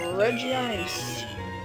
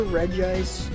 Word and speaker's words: Regice: so be right back okay let's take on reggie ice or regis however you want to pronounce them to be honest i really don't